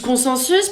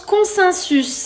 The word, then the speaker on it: consensus: Là, tu dis consensus parce Oui. qu'il y a EN en. Oui. Et pourtant, ça se prononce consensus.